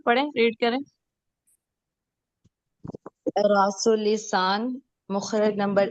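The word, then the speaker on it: مخرج: अच्छा, मुखरज सनाया नंबर ओलिया या सनाया उलिया या सनाया अलिया, क्या एग्जैक्ट प्रोनाउंसिएशन है? दूसरे लोग बताएं। सनाया उलिया। उलिया सनाए उलिया उलिया। और मखरज, सनाए उलिया मखरिज नहीं, मखरज।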